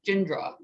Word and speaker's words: Jindra: It's just pronounced, and then the last name is Jindra. So you kind of smush the D in the R.